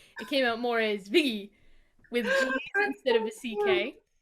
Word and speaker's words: Viggy: So Viggy is how my family pronounces Vicky, but fast and with a New York accent. So it came out more as Viggy with G's That's instead of a so cute.